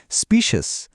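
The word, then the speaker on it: specious: স্পিসেস উচ্চারণ করার সময় প্রথম অংশটা শুনতে একেবারে স্পিসিস বা প্রজাতির শব্দটার মত লাগে।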